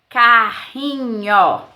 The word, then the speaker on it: carrinho: é a mesma forma Olha só carinho carinho é só um R Se eu colocar dois R vai ficar carrinho então entendendo carinho são